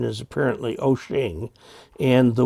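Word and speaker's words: Wouxun: this pronunciation is apparently ocean and the wok sun normally would not be pronounced quite that way but the chinese version of it is pronounced ocean this is one of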